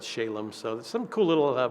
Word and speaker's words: Shalem: Canaanites let's call it spelled with an eye but still said Shalom so there's some cool